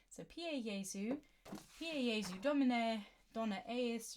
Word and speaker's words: Pie Jesu: Jesu orgies you okay PA Jesu is what we're gonna be singing the correct pronunciation so PA yaesu here AZ domine Dona